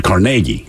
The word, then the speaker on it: Carnegie: gets the name so in New York it's Carnegie Hall as opposed to Carnegie Carnegie Mellon University yeah is it because